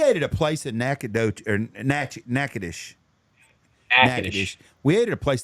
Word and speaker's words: Natchitoches: We ate at a place in Natchitoches.